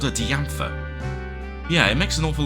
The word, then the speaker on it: Diantha: Also, I think it is actually meant to be pronounced as Diantha, isn't it? Like Diane, I suppose. But when we first encountered her, I think I called her Diantha.